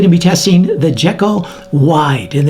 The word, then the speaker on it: Wyde: But today I'm going to be testing the Jekyl Wide and they spell it w y d e, okay? Kind of like Hyde.